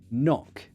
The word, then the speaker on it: knock: one of them and they gave us words like knife with a k or on the door a knob with a k knock um knock on my door with a k a lot of cool